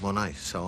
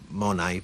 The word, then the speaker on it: Monet: And then I quite like an artist, Claude Monet, so I named it after him. Monet, but pronounce it Monet, Monet shoes. Some people call it Monets.